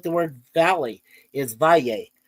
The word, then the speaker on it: valle: The same thing with like the word valley is valle. And the way it sounds like a Y is there's two letter L's there.